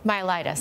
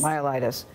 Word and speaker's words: myelitis: flaccid myus myelitis how do you say it myelitis myelitis so what do we know about it at